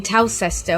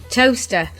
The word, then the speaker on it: Towcester: We've got to shout out to Kerry and Chris, who have been listening in Towcester or Toaster. Toaster. I know you spell it Toaster.